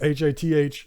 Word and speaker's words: Hath: When I read the letters, H-A-T-H, it looks like Hoth to me, but it's going to be Hath.